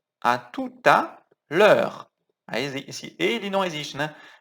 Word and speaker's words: à tout à l'heure: Cuidado na pronúncia. À tout à. Tem que juntar aqui, com som de T. À tout à. À tout à l'heure.